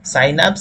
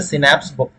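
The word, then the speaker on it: synapse: ठीक है, साइनैप्स या सिनैप्स अलग अलग प्रोनाउंसिएशन है, आप कुछ भी कर सकते हैं।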